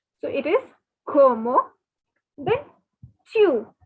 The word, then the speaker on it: tu: So it is como, then chew. Now take the Hindi word tu and make it a bit stylish, like the French people are very stylish. So instead of tu, say chew.